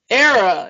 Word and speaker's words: Éire: land of eie and he's like learn to pronounce it it's era and he's like no my father was from